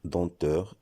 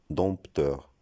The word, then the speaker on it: dompteur: Dans ce nom, le M et le P sont des lettres muettes. Ça veut dire qu'on ne doit pas les prononcer. On doit dire denteur et non dompteur.